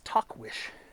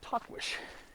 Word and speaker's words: Tahquitz: It's Tahquitz. Tahquitz. It's pronounced Tahquitz.